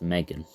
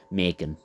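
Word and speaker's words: M3GAN: But anyway, coming in at number 5 is Megan. But obviously, it's spelt with a 3, so that's why I've typed it like that. Megan. That's how they say it in the film. Not Megan, Megan. Like that.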